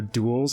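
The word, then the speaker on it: dhole: photos of the the duels i think that's how you pronounce it it's d h uh o l e i think you pronounce it duel if i'm wrong there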